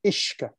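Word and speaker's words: uisce: magic of entities of this earth water or ishka as it's pronouncing the gaelic language similar to how the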